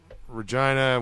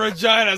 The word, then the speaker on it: Regina: case everyone forgot yeah vagina and Regina sound very similar says Regina they don't say Regina that's how it's supposed to be pronounced Regina Regina would be r